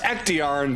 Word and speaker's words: Ectigern: The chivalrous and respectful alicorn known as Ectigern. It's truly supposed to be pronounced Ectiarn, but we're keeping it Ectigern. Ectigern. Apparently the G in his name is silent, but not anymore.